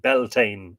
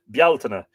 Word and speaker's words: Bealtaine: get into it in detail but it's not pronounced Beltane in Ireland not ever bialtana so there are one two three four five